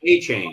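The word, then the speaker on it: Achane: That offense seems unstoppable right now, especially with Mostert and Akane. I can't pronounce his name. Is that it? From A&M, I believe. Yeah, A-Chain? Yeah. A-Chain, something like that. A-Chain, yes. That's it.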